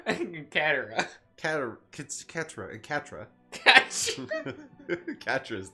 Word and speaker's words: Katara: Ska and Katra. Katara.